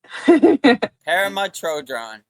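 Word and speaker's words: Pema Chödrön: Pema Chodron, right? I think you got it. Pema Chodron.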